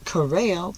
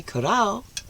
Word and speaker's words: Corrao: My mother, Janice Corrao, pronounced the proper way, Corrao, or Vincencia Corrao, my mother, yes, and it goes back, Corrao, Tarantino, Gennaro, etc., etc.